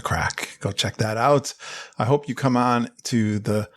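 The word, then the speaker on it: craic: It's spelled C-R-A-I-C, by the way. The Irish call it the crack.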